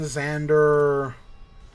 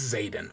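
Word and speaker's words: Xaden: do I have it I'm gonna find out if it's Zaden or Xander it's Zaden okay um let's go for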